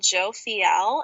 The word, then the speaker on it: Jophiel: for romance specifically I would call on Archangel Joe Fiel and that's spelled j-o-p-h-i-e-l and the easiest way to call